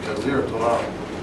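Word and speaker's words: جزيرة العرب: So I can pronounce that easy in English because I see it's Jazir Arab, and I know by the accent it's a long I, Jazir Arab, which means what in Arabic?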